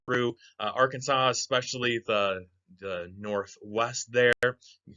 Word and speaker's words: Arkansas: The law says it has to be pronounced Arkansas. There was a big argument in Congress between Arkansas's two senators. One of them insisted on calling it Arkansas, and the other one insisted on calling it Arkansas. And Arkansas guy won and made it illegal to call it Arkansas.